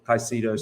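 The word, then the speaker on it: Caicedo: concrete interest whilst others under consideration include rice sicido and Lavia caicido so if you're having you want to pronounce it and love you interesting to note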